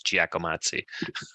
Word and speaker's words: Giacomazi: no problem mom nah the pronunciation of my last name just in case your wonder is giacomazi and i don't expect